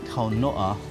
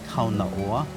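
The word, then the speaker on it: kaunaʻoa: On the island of Lāna'i, our tutus would always say kaunoa when talking about the island flower. So those who come to visit us would say kaunaoa, but our tutus would say kaunoa.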